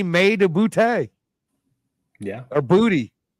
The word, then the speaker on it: Boutte: It might be a Boutte day. It might be May to Boutte. Yeah. Or Booty. However, I think he says booty is how you pronounce it.